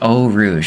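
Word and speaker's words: Eau Rouge: if uh oh Rouge it's pronounced oh Rouge okay thanks Rob oh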